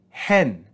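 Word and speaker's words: ἕν: in the aspiration so here we're going to add rough breathing before the sound of the epsilon and in the reading of this sentence we're going to read this with a rise in pitch marked by the acute accent so this is going to be read hen hen we then see omicron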